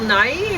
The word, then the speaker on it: Nighy: Bill Nighy, is that how you say his name? I don't know. I'd say Nye. Oh, yeah, Nye.